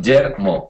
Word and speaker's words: Guillermo: Guillermo. That's correct. Guillermo. Okay, I gotta pronounce it.